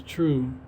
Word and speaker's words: 2Ru3: You just have to search my name, which is pronounced True, but it's spelled with the number 2, the letter R, U, and the number 3.